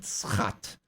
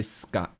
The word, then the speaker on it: schat: We pronounce it schat. Schat. And you say scut.